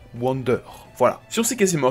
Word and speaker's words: Wander: Oui, il s'appelle Wanda en VO, mais j'ai toujours prononcé Wander.